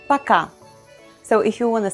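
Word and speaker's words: пока: setting we say okay please note that letter o is unstressed so we pronounce it as a paka so if you want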